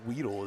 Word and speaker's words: Weedle: I believe Weedle is how it's pronounced, not Wed.